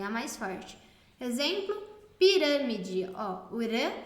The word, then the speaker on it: pirâmide: som eu ia proparoxítona é quando a antepenúltima sílaba é a tônica é a mais forte exemplo pirâmide uram é mais forte o de é a